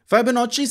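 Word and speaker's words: Fibonacci: number इसको बोलते हैं डबल सी को ची बोला जाता है आपको पता होगा यार गुची समझ रहे हैं ना बात पता नहीं मैं स्पेलिंग गलत लिखे हूं लेकिन something like that Italian basically ये स्टाइल होता है फाइब नोची सीक्वेंस इज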